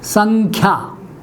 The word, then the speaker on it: संख्या: मैंने फिर से लिखा, अनुस्वार लगाया, आगे लिखा मैंने ख, संख्या, ये अनुस्वार यही उच्चारित होता है, संख्या, संख्या।